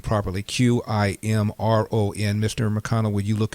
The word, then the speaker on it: Qimron: Qimron. Mr. McConnell, would you look at the pronunciation of that? Qim like Mary, Ron like Nancy.